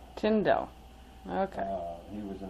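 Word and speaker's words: Tyndall: n his name is t y n d a l l but it's pronounced tindel tindel okay uh he was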